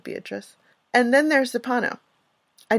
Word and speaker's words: Beatrice: classic literature, like Dante's Beatrice or Beatrice. I love the Italian pronunciation of Beatrice.